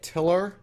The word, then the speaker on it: tilr: She is the CEO of, and I want to make sure I got this right, is it tilr? Did I pronounce that right?